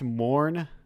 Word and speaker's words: Morn: Is your game just pronounced Morn? Yeah. Okay. Yeah. It's the IPA for the pronunciation of Morn.